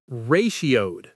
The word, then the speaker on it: ratioed: It has three syllables. Ray sheowed. Let's say it slowly. Ray sheowed. A little faster now. Ratioed.